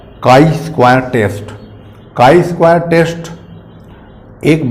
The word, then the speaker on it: chi-square: आप देख सकते हैं कुछ बच्चे इसको ची स्क्वायर टेस्ट भी बोलते हैं तो इसका नॉमिनेशन यानी कि प्रोनाउंस एशन में काई स्क्वायर टेस्ट कहा जाता है इसमें किस प्रकार